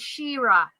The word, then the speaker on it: Shira: Aw, you're welcome, Shira. I love you. You have to say it like I say it to her, though, which is Shira.